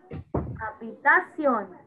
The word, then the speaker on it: habitación: No, it is silent. Entonces, so, habitación.